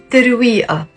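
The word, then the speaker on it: ترويقة: the Lebanese dialect is teruia it's not it's ah we have to pronounce the ah in the end there we are breakfast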